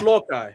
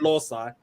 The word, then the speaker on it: loci: that's very you know it's locally right that's how you pronounce that word right or or you know it's not law side as I wait is